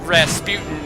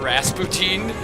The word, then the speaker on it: Rasputin: It's pronounced Rasputin normally, but the disco song, in the song they pronounce it Rasputin.